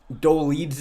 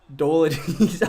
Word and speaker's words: Dolidze: Dolidze is how it's pronounced. That is exactly how I pronounced it. Dolidze. Doladiz. Oh, no, I said Doladiz, didn't I? I said Doladiz. Dolidze, my bad.